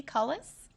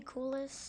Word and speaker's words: Coulis: Elementary, and I believe, is it pronounced Cullis? Great. Would you come to the front? Thank you. And please correct me. Say your name. Coulis. Coulis.